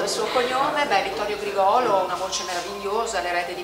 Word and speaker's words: Grigolo: E ci sono delle collaborazioni importanti come quelle di David Garrett e Vittorio Grigolo, pronunciato sì, con l'accento. Vittorio ci tiene molto il suo cognome, beh, Vittorio Grigolo, una voce meravigliosa, l'erede di Pavarotti, un grandissimo